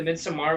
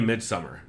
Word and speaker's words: Midsommar: the way, it's definitely Midsummer. I know. I know it's not how it's spelled, but it's definitely Midsummer. I'm sure. I'm just going with the Scandinavian thing.